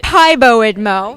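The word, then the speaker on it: PiBoIdMo: I say Pibo Idmo.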